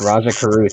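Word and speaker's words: Rajah Caruth: I said this correctly is it pronounced Raja Raja Cruz yes Raja Carruth has torn his ACL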